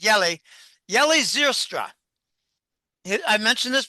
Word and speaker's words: Jelle: I think the central banks are going to use the Yelly, Jelle, but I think the Dutch pronounce it Yelly, Yeli Zylstra.